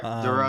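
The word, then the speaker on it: Durow: Duro.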